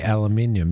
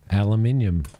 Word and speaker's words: aluminium: Like the way we say aluminum. Yeah, aluminium.